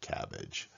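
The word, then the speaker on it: CABG: post coronary artery bypass graft often pronounced cabbage so his head cabbage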